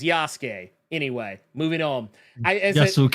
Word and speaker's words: Yasuke: y's name is Yas it's not yasuke is not yasu K it is not yasu g it is yasuke anyway moving on I